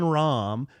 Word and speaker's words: Rahm: So how did it go from me saying Brad Faxon, a golf commentator, said that John Rahm, who has 2 syllables in his name, had a big thighs and a big butt, could hit the ball far, to me being a dickhead?